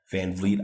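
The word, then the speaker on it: VanVleet: And I think I've been pronouncing it Van Vliet. So if I've been wrong, Van Vliet, I confirmed and learned that during Game 6.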